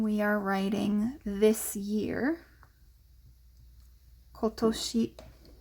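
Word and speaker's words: 今年: are writing this year kotoshi kotoshi is this year so not kontoshi it could be konnen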